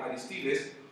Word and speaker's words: Aristides: Un hombre muy famoso llamado Aristides, dicen que así se debe de pronunciar correctamente, Aristides, un famoso estadista, comparaba